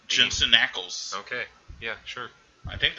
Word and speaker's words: Jensen Ackles: Jensen Ackles.